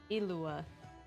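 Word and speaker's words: Illuga: Ilua. It's weird. It's because the G's there, but you don't pronounce the G at all. It's a weird silent G.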